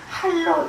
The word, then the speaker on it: 할: 선불교회 선사들은 사람을 깨우치기 위해서 예 할 예 꾸짖은 갈자이지만 불교에서는 원래 발음대로 할로 읽어요.